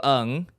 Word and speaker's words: Ng: you well my I I pronounce my name is Nigel UNG is it people say NG which is it's just fine but it's not an acronym Oh I thought it